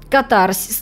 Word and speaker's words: катарсис: То есть и это для тебя было целью, и для героя было целью, и в конце ты получаешь как бы катарсис. Ну, катарсис вообще, по-моему, правильно говорить.